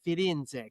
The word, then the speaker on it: Firenze: And he always said, Firenze, che bella città. And that's how I know how to pronounce that.